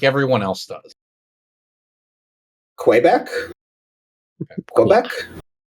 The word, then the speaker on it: Quebec: Say like Quebec and then give your 7-year-old a cigarette.